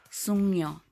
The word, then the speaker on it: 숙녀: Take note sa 숙녀 guys, it's giyok pero hindi siya sugno ang pagkabasa. It will change to iyong. So it pronounced as sungyo.